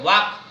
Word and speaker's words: walk: वाक में जो है L साइलेंट है, WALK, इसमें L साइलेंट है, वाक।